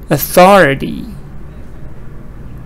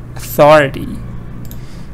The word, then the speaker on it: authority: here so you see stress is not on the first part now stress is on the second part uh e does it